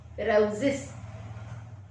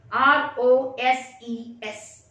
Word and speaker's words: roses: It is pronounced as roses. That's the correct English pronunciation. Whereas we native speakers of Malayalam pronounce it as roses. Because we don't have that z sound in Malayalam. We have only sa. So we pronounce it as roses instead of roses.